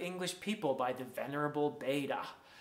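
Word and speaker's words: Bede: people by the venerable beta some people might pronounce that beed b-e-d-e it's a wonderful wonderful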